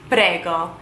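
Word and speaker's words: prego: welcome in Italian you would say one word padega very simple very easy to remember good I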